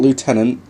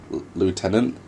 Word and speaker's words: lieutenant: It's not lieutenant, because that's how the Americans pronounce it. The Americans pronounce it as lieutenant.